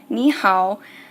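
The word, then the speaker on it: 你好: it's me how and me is in 3rd tone and how is also in 3rd tone and you shouldn't have noticed this if you haven't that's okay but whenever I pronounce me how I'm not saying both third homes I'm changing me to a second tone this is for pronunciation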